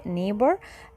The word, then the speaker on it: neighbor: Our neighbor يعني جار GH silent مش بتتنطق neighbor.